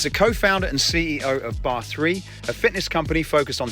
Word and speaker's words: barre3: Sadie, tell me a little bit about barre3. Is that how you pronounce it?